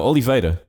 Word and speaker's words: Oliveira: I think it's Oliveira. Oh, Jan de Oliveira. No, Oliveira.